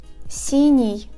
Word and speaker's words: синий: The letters Е, Ё, И, Ю, Я after these consonants indicate that these consonants are pronounced softly. For example, синий.